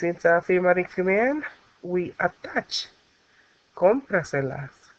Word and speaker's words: cómpraselas: And since it's an affirmative command, we attach cómpraselas. Why we put the tilde on the O? We need to remember that it's going to carry that stress.